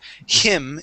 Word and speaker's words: him: Uh, so instead of pronouncing a Spanish uh I sound, we're going to use a short I and say him. Instead of him, it is him.